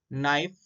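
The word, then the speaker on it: knife: यहाँ देखो एग्जांपल्स है, देखो now, knock, नाइफ, night, knowledge. ये सब साइलेंट के लेटर के एग्जाम्पल है।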